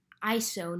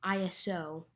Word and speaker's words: ISO: ISO, pronounced ISO, not ISO, because it's not an acronym. ISO makes your picture brighter, but there is one catch.